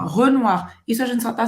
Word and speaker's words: Renoir: Camille Claudel, également Pissarro, Renoir, eu falei em português, Renoir. Olha a pronúncia. Renoir. Boca do O e fala E. E O em francês tem som de UA. Renoir. Renoir.